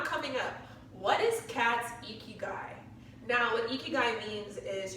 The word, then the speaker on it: Ikigai: So Ikigai, yes, but it's gonna come up.